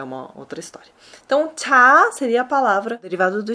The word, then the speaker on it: 차: O veículo, no coreano, a gente vai falar cha, né, com esse som aspirado mesmo, cha.